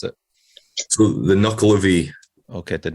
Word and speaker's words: Nuckelavee: going to leave it to you, James, to pronounce it. So the Nuckelavee. Okay, the Nuckelavee.